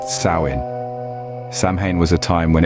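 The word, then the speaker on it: Samhain: Kelts observed a festival known as saman pronounced sawin samh was a time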